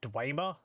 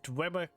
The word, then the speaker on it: Dwemer: I think it's actually pronounced Dwemer.